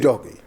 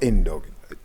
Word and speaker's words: Udogie: Udogi. Destiny Udogi. Destiny. Not Indogi.